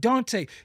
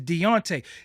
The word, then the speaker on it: Deontay: his name is not Dante that's a sign of disrespect you keep calling them Dante his name is not Dante his name is Deontay now you don't know